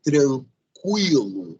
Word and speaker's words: tranquilo: cada hein Quem será essa Oi gente a pronúncia é tranquila e tranquilo e nunca esqueça disso tranquila e tranquilo um